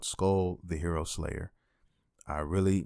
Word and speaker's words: Skul: slash rpg type of experience and the game is spelled s-k-u-l and it's called skull the hero slayer i really really enjoyed this